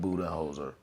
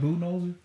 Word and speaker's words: Budenholzer: will be the Phoenix Suns, who fired Bud Budenholzer. I said, what else I call him? Fred? What's his name? I forgot. Ain't it Mike? Yeah. Mike Budenholzer?